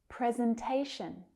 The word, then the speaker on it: presentation: Presentation. Can you hear where the stress is? There's a primary and a secondary stress.